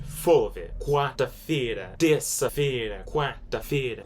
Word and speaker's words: quarta-feira: Quarta-feira. Quarta-feira. Alright, this is how you spell it right here.